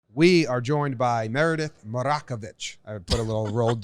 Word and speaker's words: Marakovits: do that Brockovich how many people get your name wrong maracas bits yeah did I get wrong yeah slaughter it Jake do the intro we're here with Meredith marakovits he got it right yeah I listened to